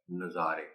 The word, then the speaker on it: نظارے: اور وہ واقعی پھر ثابت ہوا کہ اس لفظ کے دو تلفظ ہیں، اور یہاں اس نظم میں پہلے مصرعے میں اس لفظ کا تلفظ شد کے بغیر والا ہے، اور وہ ہے نظارے.